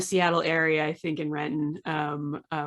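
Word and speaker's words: Renton: area i think in retin um uh which we don't pronounce the t in it so uh but yeah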